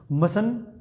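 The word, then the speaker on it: mustn't: क्या पढ़ेंगे, टी बीच में क्या कर देंगे आप, साइलेंट कर देंगे, तो क्या इसको पढ़ेंगे, मसंट। क्या पढ़ेंगे, मसंट, मसन, मसंट, मसन, मसंट, मसन, मसंट, दोनों तरीकों से इसको आप प्रोनाउंस कर सकते हैं।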